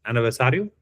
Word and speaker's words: aniversário: We, in Brazil, we have some words with two R's. Two words, two R's, like one in front together. That Really? and the pronunciation it's changed depending the word. Like you we see in reunião and aniversário. It's the same letter but sounds different.